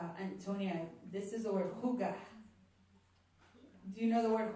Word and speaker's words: hygge: Huga? It's spelled Y-H-Y-G.